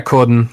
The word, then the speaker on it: Corden: Yeah, Corden, Corden. As in James Corden, who apparently I am distantly related to somehow.